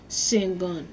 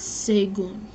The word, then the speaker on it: Sagun: And Sangun, I don't know how to say his name. This is how you spell it. You search this up. No, it's Sagun. Sagun.